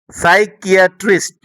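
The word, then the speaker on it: psychiatrist: তুমি যদি লক্ষ্য করো, এখানে প্রত্যেকটা শব্দের প্রথমে পি থাকলেও পরে এন, কোনো কোনো শব্দে এস থাকার কারণে পি এর উচ্চারণ কিন্তু হয়নি, অর্থাৎ পি এর উচ্চারণ সাইলেন্ট রয়েছে। তো তোমরা যখন ইংরেজি পড়বে তখন এই পি এর পরে যখন এন অথবা এস দেখবে তখন তোমরা এই পি এর উচ্চারণ করবে না।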